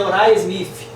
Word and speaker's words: Uriah Smith: mais conhecido por nós na expressão aí abrasileirada como Urias Smith, né? Mas a pronúncia em inglês é Uriah Smith.